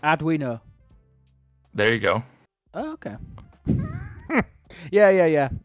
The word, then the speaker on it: Arduino: R Dwine. O three syllables. Adino.